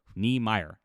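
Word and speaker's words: Niemeier: If you haven't looked him up, here's how you spell it. Brian Ni Mi. Oh jeez. I Yes. Eer. Neyer.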